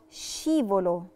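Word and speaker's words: scivolo: نفس القاعدة، عشان في أس قبل لترا تشي نطقناها شيفولو، شيفولو اللي هي الزحليقة.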